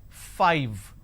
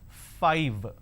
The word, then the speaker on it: five: five all right now the pronunciation is five f i v e five so i need to i need to bite my lower lip to end the word it's five the second one is